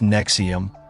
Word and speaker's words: NXIVM: organizations of our time Nexium pronounced Nexium was marketed as a